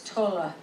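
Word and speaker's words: Tolle: attitude Tola excuse me I'm trying to learn to say his name right it's Tola totally uses the lack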